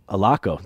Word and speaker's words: Allocco: Marty Allocco. Allocco. There we go. There you go. I know I should have verified the pronunciation before we got started here.